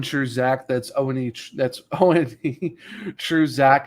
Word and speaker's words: One True Zach: It's not the number one is actually spelled out like the one, like I like the Oneaters or the Wonders, but not pronounced correctly. It's just One True Zach.